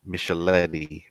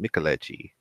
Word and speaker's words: Micheletti: In my preview, I called him Micheletti, but it's pronounced Micheletti.